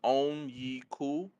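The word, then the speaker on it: Onyeka: The pronunciation is Onyiku Okongwu.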